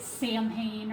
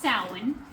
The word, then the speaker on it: Samhain: It looks like Sam Hayne or something like that, but it's pronounced sin and it is the celebration that is the end of summer and the beginning of winter.